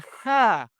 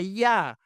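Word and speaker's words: Jah: Versículo uno, alabad a ja o quizá más probablemente la pronunciación sería alabad a ya.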